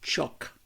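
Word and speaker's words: חֹק: Vamos a comenzar con la palabra estatutos, que la palabra hebrea es la palabra que se dice o se pronuncia chock.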